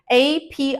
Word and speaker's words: API: pronounce it I mean you have to say it as separate letters of the alphabet a pi I not a don't